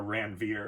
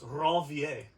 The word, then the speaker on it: Ranvier: And then in between where those sheaths don't exist, they're called nodes of Ranvier, or Ranvier if you want to use a Americanized pronunciation. But he was French, so it's Ranvier.